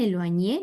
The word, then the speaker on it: éloigner: éloigner, Muy bien, éloigné, no pronunció la R.